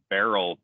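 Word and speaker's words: Beryl: uh saying the word barrel but it's spelled beat uh bravo echo romeo yankee lima uh like you're not pronouncing it wrong it's just a homophone or whatever you call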